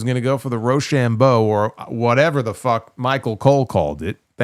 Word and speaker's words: Rochambeau: It's the Rochambeau. It's not that hard to pronounce.